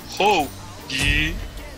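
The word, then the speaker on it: Hou Yi: No, que así se pronuncia, es Hoji.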